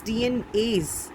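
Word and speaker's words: DNase: See, it is pronounced in the same way, but DNAs means more than one DNA, many DNA molecule, and this DNAs, it means an enzyme which degrades DNA.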